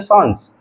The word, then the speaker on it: sans: Basically ये word जो सैंस है ये सैंस नहीं है, इसकी जो रियल प्रोनाउंसिएशन है वो होती है सॉन्स, मतलब कि इसका जो पूरा नाम है वो है सॉन्स सेरिफ। सॉन्स वर्ड फ्रेंच भाषा से लिया गया है।